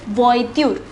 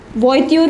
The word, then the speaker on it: voiture: was in this word is voitude see the pronunciation it is voiture voiture means kha since there is an s it